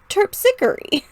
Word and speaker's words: Terpsichore: Terpsichore. Terpsichore. Terpsichore. Okay. Let's try that line again, saying terpsichore. Hear me say devoid of trickery, daughter, laughter, and terpsichore. That makes sense. That rhymes.